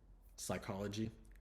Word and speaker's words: psychology: have a silent P so psychology it has a silent p in it so really more maybe